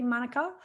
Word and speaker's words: Manuka: All right, Bron, when we get to Manuka, I'm going to pronounce it correctly, Manuka, I'm going to give you a test.